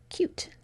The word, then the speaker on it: cute: So how would I turn cut into cute? You can change it right now. Did you add the silent E?